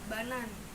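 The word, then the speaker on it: banane: Pisang tuh dibacanya banan.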